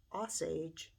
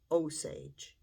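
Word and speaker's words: Osage: of the uh Native American tribe I was pronouncing it as oage and it should be oage um it's one of those words when you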